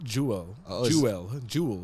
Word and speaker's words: Jewell: So we go with we're gonna go back to another Fleetster here, and that is Josie Jewell.